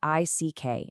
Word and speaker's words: Slovic: That's spelled Slovick and pronounced Slovic.